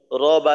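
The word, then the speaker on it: رَبّ: তো যেমন এখানে তাসদিদের উদাহরণ দেওয়া আছে, র বা জবর রব, বা জবর বা, রব বা।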